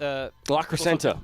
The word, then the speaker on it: La Crescenta: La Crescenta.